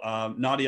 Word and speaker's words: Nadieh: So my name is Nadieh, and it's because in the Netherlands, if you have an I and an E, it's pronounced as a hard E, but I guess in American, it's different.